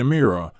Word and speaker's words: Emira: El nombre pronunciado Emira simboliza liderazgo y llama la atención como el